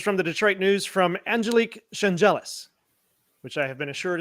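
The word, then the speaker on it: Angelique Chengelis: This is from the Detroit News from Angelique Changelis, which I have been assured is how you properly pronounce her name.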